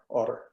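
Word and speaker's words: Odder: about every 15 kilometers it's o-d-d-e-r otter or or i could never say it right but it was the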